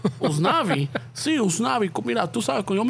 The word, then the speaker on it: Usnavi: I'm like, oh, yeah, so, pero aquí veo que, ¿cómo se pronuncia? Usnavi. Usnavi. Sí, Usnavi.